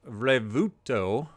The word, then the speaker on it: Revuelto: So I heard Revuelto. I hope that's what you heard. I am not very good at pronouncing things, as you've probably noticed.